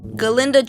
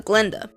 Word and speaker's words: Galinda: Galinda changes her name in solidarity with the professor since he often mispronounced it as Glenda, and the two girls become closer.